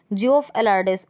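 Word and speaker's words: Geoff Allardice: अब ये हैं जियोफ एलार्डिस, और चेयरपर्सन ग्रेग वार्करले हैं आईसीसी के, और परमानेंट सीईओ कौन है?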